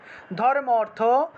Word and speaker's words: ধর্মার্থ: ধর্মার্থ মোক্ষাদে দেবী এই ধর্ম এবং অর্থটাকে একসাথে উচ্চারণ করবেন একসাথে ধর্মার্থ বা ধর্মার্থ বলতে পারবেন ধর্মার্থ বলে ফেলবেন ধর্মার্থ মোক্ষাদে দেবী নিত্যমে